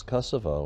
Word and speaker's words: Kosovo: um International Way is Manifest yeah it's it's Kosovo and uh Kosovo or kosova and it takes